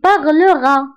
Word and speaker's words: parleras: كنضيفو أس وهاد أس ما كنطقوهاش كنقولو tu parleras كنطقو غير أ parlera il parlera كنضيفو أ أر كنضيفو حداها أ il parlera و elle parlera أيضا حدا أر كنضيفو أ parlera.